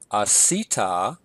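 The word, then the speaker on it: עָשִׂיתָ: We have asita. Notice my accent here is above the second to last syllable.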